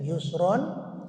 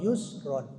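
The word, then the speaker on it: يُسْرًا: itu intinya tadi ya Yusron Kalau mau diwakaf jangan Yusron tapi Yusro saja tapi kalau di wasol Yusron wasal itu dilanjut bacanya baik ini kita kita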